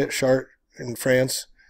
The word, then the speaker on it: Chartres: Chartres in France. Chartres.